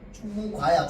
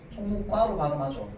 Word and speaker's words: 총무과: 자, 그럼 총무과로 발음하는 거 맞아. 총무과야. 총무과야. 해보세요. 총무과야. 총무과야. 총무과로 발음하죠. 맞죠?